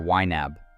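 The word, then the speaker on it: YNAB: Some names you might hear people talk about are WEAB, which is spelled Y Nab, Mint, or Every Dollar.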